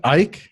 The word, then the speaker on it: Eich: Yeah, and just to cover what we're So it's Brendan Eich, I think is how you pronounce it, or EICH?